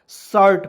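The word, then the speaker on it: shirt: को छोड़ेंगे आर को लिखेंगे कन्हैया चढ़ाएंगे टी से ट लिखेंगे आर को ऊपर चढ़ाएंगे तो क्या हो जाएगा एस एच आई आर T seat नहीं पढ़ेंगे शर्ट पढ़ते हैं जो हम लोग पहनते हैं ठीक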